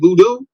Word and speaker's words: voodoo: could say voodoo's gonna the way that we pronounce it voodoo v-o-o-d-o-o that is a that is a more